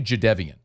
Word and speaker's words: Jadeveon: Forever, Jadeveon Clowney was Jadeveon Clowney until he corrected. It was like, it's actually Jadeveon.